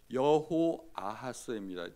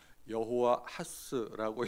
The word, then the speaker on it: 여호아스: 여호아스입니다. 뛰어 읽기를 잘해야 합니다. 여호와하스라고 읽으시면 이게 틀린 겁니다.